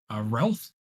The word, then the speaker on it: Relf: He's going over there, and then next one off the board is going to be Relf. That's how you pronounce it.